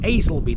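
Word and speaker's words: Aslackby: Now, a while ago we visited a place called Aisleby, didn't we? Which is spelt a very weird way considering how it's pronounced. It's spelt Aslakby.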